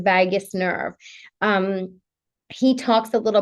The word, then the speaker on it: vagus: So the vagus nerve or the vagal response, not vagus as in Las Vegas. It's vagus, the vagus nerve.